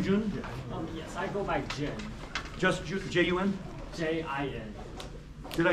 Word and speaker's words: Jun: Yes, I go by Jin. Just J-U-N? J-I-N. Did I spell it wrong?